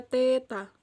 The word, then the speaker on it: teta: Hai sebesar peta sebesar Teta ini dibaca Teta Teta tuh apa sih